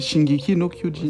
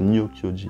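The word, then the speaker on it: 進撃の巨人: Non, c'est pas Nio. Non, c'est Shingeki no Kyojin. Ouais, c'est ça. Moi, j'ai fait exprès de dire Nio Kyojin.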